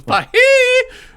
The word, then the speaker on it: Feige: It's Feige.